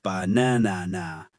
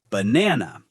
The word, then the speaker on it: banana: For example, in the word banana, we don't say banana, we say banana. The stress is on the second syllable.